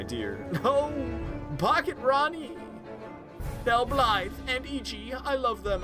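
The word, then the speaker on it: Blaidd: And I'm like, okay, Blide? Okay, it does have an I in there. Blide? I guess no, not with D's, with a TH. Blythe.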